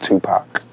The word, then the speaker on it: Tupac: you pronounce your name Tupac Tupac mhm remember like two like two and Pock like pocket you won't go wrong just Tupac what's your best Christmas